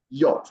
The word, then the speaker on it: yacht: Jennifer rightly corrected this pronunciation the word is pronounced yach yacht and not like yach and never yed all